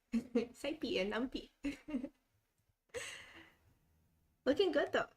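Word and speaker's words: SciPy: that was pronounced um it's like how i pronounce numpy numpy saipy and numpy looking good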